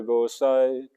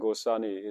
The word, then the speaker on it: Gosai: Say Krishna Avatirna Chaitanya Gosai. So that's, if you pronounce it short like that, it fits in the meter. Gosai and Gosani is the same. It's the same as Gosani.